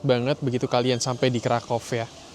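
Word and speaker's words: Kraków: Jadi benar-benar mustu visit banget begitu kalian sampai di Krakov. Ya, aku memang sebutnya Krakov karena W di Polandia itu mereka sebutnya V.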